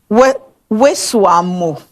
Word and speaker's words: Weswamo: Okay, how do you pronounce the middle name? Weswamo. Weswamo. What does it mean?